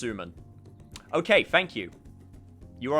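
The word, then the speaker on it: すまん: we're there already senpai so uh suman it's pronounced suman okay thank you you are a better weeb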